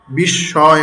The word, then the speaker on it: বিস্ময়: তারপরে যে আত্মকথা আত্ম আত্ম ছিল মূলত তারপর রশী অথচ রশমি লেখা হয় বিশ্বয় অথচ লেখা হয় বিস্ময় এই কথাটাই মূলত প্রকাশ